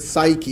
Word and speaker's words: psyche: we have the word psyche usually we don't say that P it's a silent P psyche usually means you